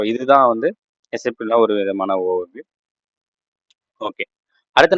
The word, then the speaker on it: SAP: ஸோ இதுதான் வந்து எஸ்ஏபியில் ஒரு விதமான ஓவர்வியூ. ஓகே. அடுத்து நம்ம பார்க்கணும்னா, இது மேபி நிறைய பேர் இது இது கேள்விப்பட்டிருப்பீங்க. ஃபார் எக்ஸாம்பிள் ஒரு இன்ஸ்டியூட்லாம் சொல்லுவாங்க, எஸ்ஏபி வந்து நீங்கள் சாப்ன்னு சொல்லக்கூடாது, எஸ்ஏபின்னு தான் சொல்லணும் அப்படின்னு சொல்லுவாங்க.